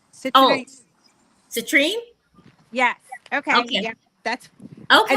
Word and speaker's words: citrine: Citronite? Oh, citrine? Yes. Okay. Yeah. That's okay. I know how to spell it, but I don't know how to say it.